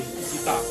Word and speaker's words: Ibiza: Actually, she pronounce it Ibiza. I-B-I-Z-A, Ibiza, yeah.